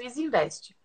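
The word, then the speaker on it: Easynvest: um investimento na, não sei se eu vou pronunciar É certo. Isinvest que ela falou, é uma corretora. É isso? Pronto. Isso, Isinvest.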